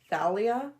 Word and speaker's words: Thalia: I call her Thalia. Oh, wow. Okay. I pronounce the TH.